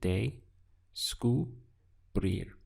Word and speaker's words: descubrir: But my advice is to rehearse this sound day-sku, and then tag on brir. And that will help you to get over the little bit of awkward pronunciation we have here, day-sku, brir.